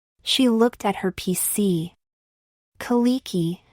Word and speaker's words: Kalecki: Kaliki, she said. It was the way Americans pronounced Polish names. The C was ignored.